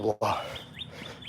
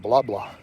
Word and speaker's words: Blaha: Blaha, not blah, blah. At least get my name right. Say my name. Say my name. It's not blah, blah. It's Blaha, and it's Czech, and it means good in Czech.